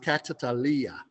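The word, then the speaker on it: καταλαλιά: It's pronounced katalalia.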